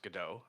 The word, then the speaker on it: Godot: we used an engine called Godot, and or sorry, no, it's pronounced Godot.